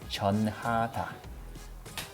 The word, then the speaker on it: 전하다: And we pronounce it as jeonhada.